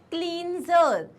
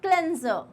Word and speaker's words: cleanser: And the last word here is, it is not cleanser, it is cleanser.